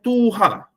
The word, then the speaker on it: Tuah: 17 yang ada adalah Tuah ni adalah Eja Bacanya adalah tuha yang bermaksud ketua sebab